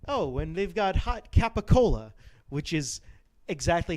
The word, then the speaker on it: capicola: it's a whole it's a whole like old italian pronunciation there's a whole reason there's a whole reason why um like so i i was actually reading something about why it's pronounced gabagool even though it's not